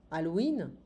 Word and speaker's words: Halloween: Quel fruit est typique pour Halloween? We don't pronounce the H in French.